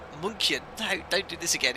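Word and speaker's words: München: It's Munchen. No, don't do this again. It is Munchen. I'm pretty sure it's Munchen. Ch. Gintarish, you need to pronounce the ch like ch.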